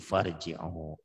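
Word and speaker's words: فارجعوا: Apabila diwasol, apabila disambung kemasukan fa, maka dibacanya enggak irji'u lagi jadi farji'u gitu.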